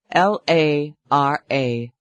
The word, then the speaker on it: Lara: Name by the way L A R A 339 827 I pronounced it Lara Lara that's beautiful fits you